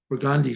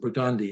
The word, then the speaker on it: Burgundy: 940 outbound just past burgundi Street and if you look at it it's spelled burgundy but we pronounce it burgundi in new WS the